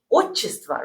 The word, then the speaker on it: отчество: Why we pronounce we say отчество, right? Because it's a stress word. Right, because we pronounce with a stress mark o, right? If it would be unstressed, that would be a, right?